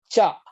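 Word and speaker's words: 茶: Tea is called cha.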